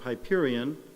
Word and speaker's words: Hyperion: it's got the wonderful name of Hyperion which is the way we pronounce it in English because Shakespeare made us do that the correct Greek would